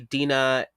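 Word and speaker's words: Deena: happens is that when am I saying her name wrong Dena yes Dena okay Dena when Dena touches the mosque to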